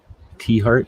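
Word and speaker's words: Tiahrt: T-Heart is how it's pronounced.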